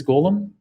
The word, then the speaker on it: golem: do you spell that that's like the lord of the rings golem yes g-o-u-g-o-l-u-m yeah yeah